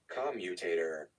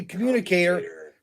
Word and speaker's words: commutator: let's try this again commutator oh commutator you know what that's right i don't know why i say communicator commutator i i remember